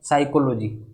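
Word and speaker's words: psychology: और अगर option D की बात करें तो ऑप्शन डी में पी साइलेंट रहता है और इसका प्रोनाउंसिएशन होता है साइकोलॉजी।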